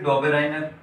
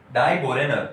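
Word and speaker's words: Döbereiner: कौन आए थे बच्चों, थर्ड आए थे आपके डोबेराइनर, है ना। डोबेराइनर आपका आपने नाम सुना होगा, डोबेराइनर या डोबेराइनर या फिर डाइबोरेनर, ऐसा दो उनके डिफरेंट नाम है, वो हम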